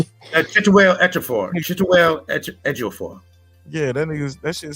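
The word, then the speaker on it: Chiwetel Ejiofor: Chituel Ejiofor.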